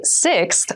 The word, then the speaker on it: sixth: sixth sixth sixth so sixth refers to the number six of something this is a really good word to practice some pronunciation slow down that sixth that middle part there the sixth book from